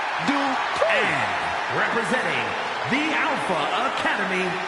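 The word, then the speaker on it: Dupri: Michael, it's pronounced Dupree. And representing the Alpha Academy from Phoenix, Arizona, Maxine Dupree.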